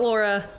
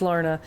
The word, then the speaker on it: Lorna: I know it's not Laura, it's Lorna.